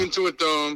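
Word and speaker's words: Intuit Dome: 2025 they're going to the how do you pronounce it the into it dome it's the new Clipper Stadium or Arena into a dome into a dome okay yeah so it's a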